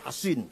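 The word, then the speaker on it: حصين: Bisod ya, Hasin. Kalau Sin Husain bacanya. Kalau Sod Hasin bacanya.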